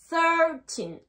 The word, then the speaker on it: thirteen: est vert thirteen alright n'oubliez pas la langue entre les dents thirteen et le i se prononce e thirteen pas fait ultime non thirteen alright maintenant quelle va